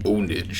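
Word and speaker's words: pwnage: You don't actually say the P. I learned that you just say ownage.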